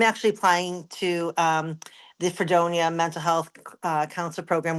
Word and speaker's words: Fredonia: Fredonia.